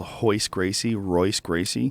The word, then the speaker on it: Royce Gracie: It's like how many people called Royce Gracie? Yeah. Because they were, unaware that you have to pronounce the R like an H when you speak in Portuguese.